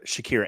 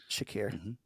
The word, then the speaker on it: Shakir: 45 minutes all right Rodney with yosias or Shakir and I said his name correctly thank you yes you did Shakir this doesn't get love though all that good